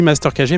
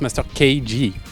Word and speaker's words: Master KG: Alors, bien sûr, hein, nous on dit Master KG, mais en vrai ça se prononce Master KG.